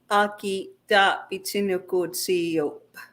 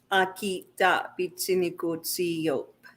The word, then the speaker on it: Aakitaapitsinikotsio’pa: Annette, help me understand how to pronounce that again. One more time, slow. Aakitaapitsinikotsio'pa. Aakitaapitsinikotsio'pa.